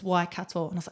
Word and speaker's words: Waikato: And the MC of that evening, she heard me and she goes, "You're saying it wrong. It's Waikato."